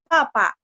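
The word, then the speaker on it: 八: Jadi saya pelan-pelan, saya akan kasih tahu kayak tadi, Pak. Kalau ini yang benar adalah tulisnya BA. Nah, tapi bacanya Pak. Bacanya P. Karena B bacanya Po, bacanya P. Bunyinya P.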